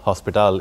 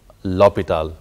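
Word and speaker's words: L'Hôpital: है लेकिन ये के it's note हॉस्पिटल it's actually लपेटे ऑल नोट हॉस्पिटल तो ये एक इलेक्ट्रॉन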